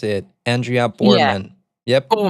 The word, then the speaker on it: Borman: Is that how you pronounce it? Andrea Borman. Yep. Borman. Yeah, Borman.